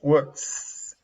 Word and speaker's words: works: In this case, is works. Clear S, but in this case,